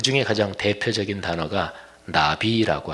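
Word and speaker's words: נביא: 중에 가장 대표적인 단어가 나비라고 하는 단어예요. 뭐 날아다니는 나비 그냥 발음이 똑같아요. 근데 그 나비란 말을 가장 적절하게 번역하면 대언자 이렇게 번역하면 제일 적절합니다.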